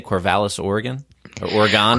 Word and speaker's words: Corvallis: And if you're in, how do I say, Corvallis, Oregon? Or Oregon? Corvallis, Oregon.